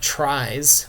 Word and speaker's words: trie: bit of a bigger task we don't have tries that's how this is um pronounced which is a cool data structure we'll